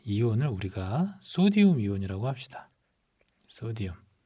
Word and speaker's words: 소디움: 소디움. 자, 이 소디움은 나트륨인데 나트륨은 라틴어고 소디움은 영어라서 소디움이라고 읽는다고 했죠.